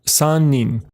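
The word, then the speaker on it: 三人: But to talk about 3 or more people, we use the onyomi. So for 3 people, that's sannin.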